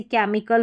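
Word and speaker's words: chemical: वो मिनिमम रहेगी कि जिन वर्ड्स की ग्रीक से उत्पत्ति हुई है उन्हें क पढ़ा जाता है। अब यहां पर आप अलग से क्या देखेंगे? थोड़ी सी ट्रिक बता रखी है। जैसे कि यहां पर देखिए साइंस और टेक्नोलॉजी से जुड़े हुए शब्द जैसे केमिकल हो गया। ठीक है? यहां पर सी एच आ रहा है। इसको हम क पढ़ रहे हैं।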